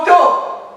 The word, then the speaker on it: auto: Ici, j'entends O, mais je ne vois pas O. Ce que je vois ici, c'est AU. J'entends O, mais je ne vois pas O.